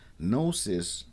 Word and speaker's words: Gnosis: Nosis with the G is knowing with awareness.